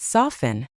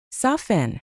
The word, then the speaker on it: soften: With soften, the t is always silent. Always soften.